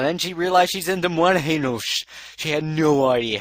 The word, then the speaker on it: Des Moines: she realized she's in Des Moines. She had no idea how to say that. Which is Des Moines. Although the S is silent at the end, so it's just By the way, it is properly pronounced Des Moines.